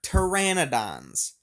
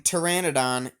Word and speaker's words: Pteranodon: to correct these are pteranodons the p in Pteranodon is silent um Pteranodon is a